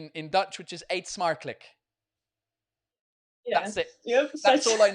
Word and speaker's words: smakelijk: Like it's 8 is almost good as 8, but the second word is smakelijk.